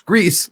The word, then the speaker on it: Gris: agree as well but it's Spanish and they pronounce all their letters the same way they don't have like